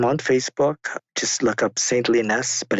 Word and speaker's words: Saintly Nest: Just look up Saintly Nest, but it's spelled SAINTLYNEST, as in Saintly Nest.